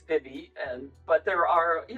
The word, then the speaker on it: Vivy: write and ask you know how do you pronounce Vivy and so uh to me it's Vivy and but there are you know lots of